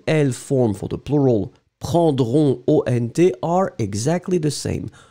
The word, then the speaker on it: prendront: form for the plural, prendront, O-N-T, are exactly the same. You write them differently, but you pronounce them exactly the same way.